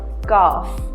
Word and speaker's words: calf: L is usually silent when it comes after the vowel A, O and U in a word. For example, wood or calf.